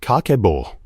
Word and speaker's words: Kakeibo: It is called Kakeibo, pronounced Kah-keh-boh.